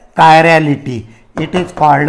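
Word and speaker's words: chiral: या फिर the optical active compound it is also called a कायरल compound. कौन सा word? Not ए चिराल. इट is called a कायरल. ख्याल में रखने का द प्रोनाउंसिएशन कायरल या फिर कायरल.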